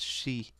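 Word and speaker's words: 四: The number 4 can be pronounced she. It's like the same as saying death.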